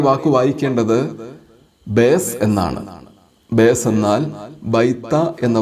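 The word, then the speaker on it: ܒܝܬ: താവിന് താഴെ അത് ഉച്ചാരണത്തിൽ മൃദുവാണെന്ന് സൂചിപ്പിക്കുന്ന കുത്തുമുണ്ട്. അങ്ങനെ ഈ വാക്ക് വായിക്കേണ്ടത് ബേസ് എന്നാണ്.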